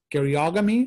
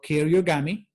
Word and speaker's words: karyogamy: Karyogamy or karyogamy are two different ways you can pronounce it.